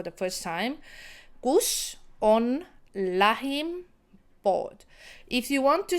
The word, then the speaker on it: lähim: push your tongue on the top of your mouth. Lähim. It's exactly as you want to say like. Can you see my tongue is on top of my mouth? So lähim, like. Very similar pronunciation.